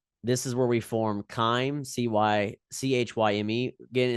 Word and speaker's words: chyme: So they call it chyme, CHYME. Some people pronounce this chime because that is how it's spelled, in fairness, but its correct pronunciation is chyme.